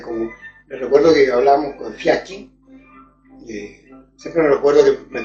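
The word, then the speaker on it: Fiaschi: Siempre hablaba de Fiachi, pero mis amigos italianos y mi propia señora que italiana dijo, Óca, no se dice Fiaki, no es Fiachi.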